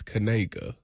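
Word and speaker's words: Kniga: Was this linebacker that's that's at Eastern Michigan whose name is Noah, but his last name is Kanega, but it's spelled K N I G G- A.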